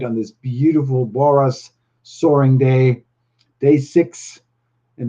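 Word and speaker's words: Borås: for the road boras the letter a in boras is pronounced like the a for the beginning of the word all it's like always and also like the o in norman so it's boras so and thank you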